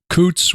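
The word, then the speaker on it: Coutts: opinions yeah that caused him to be debanked Coots which is spelled c-o-u-t-t-s it which is a it's a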